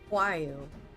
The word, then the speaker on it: Huayu: That's how you say it. Huayu. I've been saying it wrong this whole time. I've been pronouncing the R.